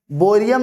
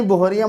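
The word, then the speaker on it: बोहरियम: बोरियम, BH, बोरियम नहीं बोरियम होता है, जिसको H साइलेंट होता है, ठीक है, बोरियम, BH, बोरियम।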